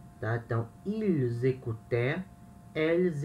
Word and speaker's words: écoutaient: AIENT. E se pronuncia é, tá? Então, ils écoutaient, elles écoutaient, tá? Écoutaient.